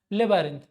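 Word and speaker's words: labyrinth: उसको हम बोलते हैं लेबारिंथ। ठीक है, लेबिरिंथ बोलिए या फिर लेबारिंथ बोलिए, वो आपके ऊपर डिपेंड करता है, लेकिन स्पेलिंग यही होनी चाहिए।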